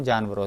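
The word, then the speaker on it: Djinn: और फिर उसके बाद आ जाता है एक जिन, इसे जिन पढ़ते हैं, ये डी जिन नहीं लिखा है, जिन पढ़ेंगे इसे, अच्छा डी साइलेंट रहता है।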